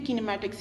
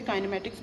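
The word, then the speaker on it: kinematics: किनेमैटिक्स और काइनेमैटिक्स, exact pronunciation बेटे किनेमैटिक्स ही है, लेकिन समटाइम्स जो है काइनेमैटिक्स भी बोल रहा है, डजेंट मैटर।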